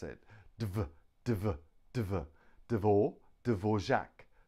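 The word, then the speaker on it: Dvořák: okay we can pronounce it divert over Devore Dvorak Dvorak Dvorak Dvorak three-syllable Dvorak next one is ah now we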